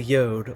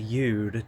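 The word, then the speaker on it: יוד: It comes right up and just barely touches the yod, or the yud, depending on how you want to pronounce the Hebrew, in the yod-he, vav-he.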